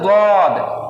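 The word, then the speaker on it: ض: দদ শুনতে কিছুটা ডালের মতো লাগবে, কিন্তু ডালের মতো উচ্চারণ সম্পূর্ণ হবে না, হবে দদ।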